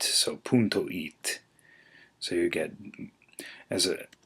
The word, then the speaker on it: it: punto it or it is actually pronounced like the English eat so punto eat so you get as